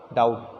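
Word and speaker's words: doubt: और डॉप्ट, डॉप्ट में डाउट, डाउट में बी साइलेंट है, ठीक है।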